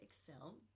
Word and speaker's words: Xcel: out soon is going to be the Celebrity Excel.